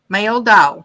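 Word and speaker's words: Meldahl: go male dog okay that's close thank you pronounce male doll yeah male doll there we go they're pronouncing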